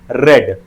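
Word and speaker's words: read: तो ये रेड का V3 होता है रेड। जहां तक ये इसके स्पेलिंग की बात की जाए तो ये दोनों सेम रहेगा, एग्जैक्ट रहेगा, लेकिन ये प्रोनाउंसिएशन में ये चेंजेस आएंगे।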